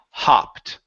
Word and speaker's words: hopped: instead of hoped okay when you have a double consonant the vowel that is before the double consonant is not long anymore okay if there there was only one p yes it would be hoped but since there's a double P it is ah hopped hoed there you go